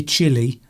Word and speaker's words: Chile: The spelling is different, but the pronunciation is the same.